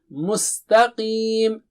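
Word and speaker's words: مستقيم: And Qim. Don't say Khim. And don't say Qim. It is Qim. Repeat after me 3 times. Qim. Qim. Qim. Qim. Mustaqim.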